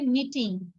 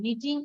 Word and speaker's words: knitting: আচ্ছা, এটা হচ্ছে নিটিং, KNITTING, নিটিং আর সোয়েটার। কে এর উচ্চারণ হবে না, কে সাইলেন্ট থাকবে।